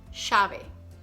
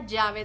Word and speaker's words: llave: Dame la llave del yate. Fast. Dame la llave del yate. Do you hear any difference between llave and yate? No, because there's no difference here.